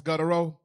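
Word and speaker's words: Gautreaux: it but you said I think the ex is silent though like it's guto right better a federal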